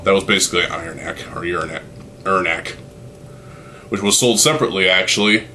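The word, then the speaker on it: Irnakk: I always pronounce this Ernak. If you pronounce it as Uranak, well, maybe you gotta urinate.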